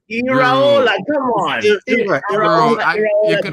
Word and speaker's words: Iraola: It's Iraola.